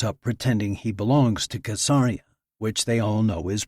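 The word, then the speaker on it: Caesarea: Every Israeli boy grows up pretending he belongs to Casaria, which they all know is pronounced with a hard sea.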